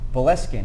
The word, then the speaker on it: Boleskine: I always pronounce this wrong. Boleskine is the way it's pronounced.